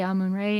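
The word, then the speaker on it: Amun-Ra: stuff Malcolm must know how do you pronounce a moon ray I mean I would say ah moon ray Anubis faster best at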